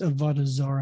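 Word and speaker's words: עבודה זרה: the hebrew in the hebrew the word is avadazara and write this down on your pads and i'll spell it for you av o d a h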